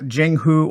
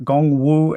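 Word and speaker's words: Jianghu: gong woo now uh Jing who or gong woo as it's probably pronounced in my bad uh Chinese pronunciation that literally translates into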